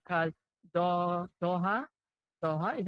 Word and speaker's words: Doha: think we've caught up right because do Doha Doha is how you pronounce it uho happy viewing from the local